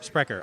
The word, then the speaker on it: Sprecher: are SPR c h ER i i'm wrecker Sprecher okay I know you'd said it before spreaders